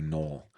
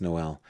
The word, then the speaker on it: Noel: But Noel here, I keep wanting to say Noel, but it is pronounced Noel. Um, at least according to everybody who's saying it out loud, and in Spanish would be Noel.